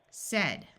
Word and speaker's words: said: the long a sound in these two words it has a short e sound sound so said said said this a will schah